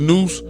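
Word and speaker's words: nous: Noose pronounced noose whose right name is nupu is intellect pure intelligence and sound right reason.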